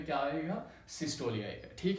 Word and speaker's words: systole: है डायस्टोली, दूसरा है सिस्टोली। तो बहुत सारे इनको पढ़ते हैं डायस्टोल और सिस्टोल। अगर हम इसकी जो एक्चुअल जो प्रोनाउंसिएशन चेक किया जाए तो इसकी डायस्टोली है और इसकी क्या है, सिस्टोली।